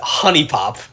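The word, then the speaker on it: HuniePop: Like, Mans goes out after playing Hoonie Pop and buys like 3 anime body pillows.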